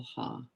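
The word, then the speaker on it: ه: this is a little ha it's pronounced like the h in english so i think what's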